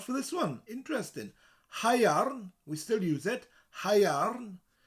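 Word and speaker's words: haearn: It is possible that the word first came from the ancient Welsh word hyairn, spelled H-A-E-A-R-N, hyairn, still used today for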